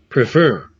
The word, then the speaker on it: prefer: Prefer. Prefer, fur. Então a tônica é a segunda.